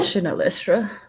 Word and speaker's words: Shinelestra: place with a long name that I can't pronounce oh the shifting City why is it shifting you got it right is chanelistra that's where we're going okay well um they